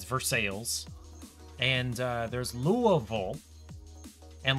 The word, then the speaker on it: Versailles: Versailles, Kentucky, where Paige is from, instead of Versailles, it's Versailles. And there's Louisville. And, like, 10 miles away is Shelbyville, which is pronounced Ville, but Louisville is not pronounced Ville, it's pronounced Vol, because America.